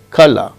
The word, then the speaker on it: colour: In received pronunciation RP of England, r is not pronounced when it occurs in word final position, as in colour.